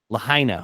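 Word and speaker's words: Lahaina: pun intended, with the how do you pronounce that? Lahena, is it Lahina? Lahina. Okay. No pun intended with the Lahina fire.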